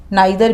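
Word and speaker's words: neither: बी नीदर a borrower NOR a lender, B नीदर a borrower NOR a lender, इसका नीदर भी होता है pronunciation and नाइदर भी होता है, बोथ आर करेक्ट।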